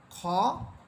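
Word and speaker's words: خ: হরফ হা এরপরে হরফ খ হচ্ছে মোটা হরফ এজন্য আমরা এটাকে আকার ছাড়া বলবো অর্থাৎ খা বলবো না বরং এটা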